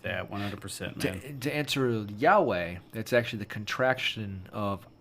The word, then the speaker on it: Yahweh: hwhs okay yeah so it's actually the contraction pronounced yahweh but it's i am that i am if